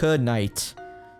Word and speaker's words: knight: Oh, which would actually work, because it's knight. So the K is silent. The G is silent. And so is the H.